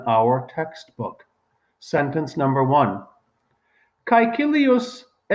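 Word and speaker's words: Caecilius: textbook sentence number one kaikilius now i am pronouncing the latin um as the romans did in the time of julius caesar there are a few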